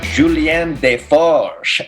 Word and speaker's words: Julien Desforges: Julien Desforges, welcome to Being.